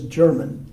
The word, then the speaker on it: Germain: And by the way, the English usually pronounce it as German. But that's St. Germain's, and out in front